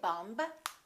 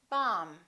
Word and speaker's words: bomb: example don't know that the B is silent in the word bomb we don't don't say bomb we say bomb let's review some very